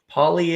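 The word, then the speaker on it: Pagliaro: Poliero. Oh my gosh, I wasn't even close. Poliero. So the G is silent. Poliero. That's what he has on Facebook. Poliero. And the I is silent.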